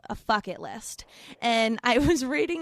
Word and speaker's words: Fycket: So tell me a little bit about Fycket List, because it rhymes with bucket list, and I think there's so many of us who have.